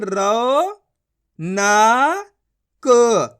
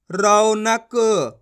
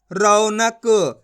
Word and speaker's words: रौनक: मिलके बन जाएगा रौनक कैसे पढ़ेंगे रौनक ऐसे नहीं पढ़ेंगे रोनक अगर आप रोनक पढ़ दोगे तो की मात्रा का उच्चारण हो जाएगा तो कैसे पढ़ेंगे अपन रौनक यानी कि औ का उच्चारण निकालेंगे रौनक इस तरीके से क्लियर